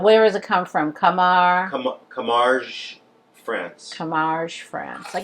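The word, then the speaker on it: Camargue: u e Bruce what is how do you pronounce it Flor toell yeah but where is a come from Kamar Kar France Kamar France I got it a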